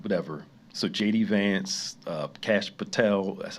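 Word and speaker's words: Kash Patel: So JD Vance, uh, Cash Patel, that's how you say his name, and some other people started playing his shooting this video out, okay?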